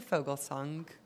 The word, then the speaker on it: Foglesong: representative in his place I believe it's Mr foglesong I don't know if that's the right way to say your last name got it right so after I have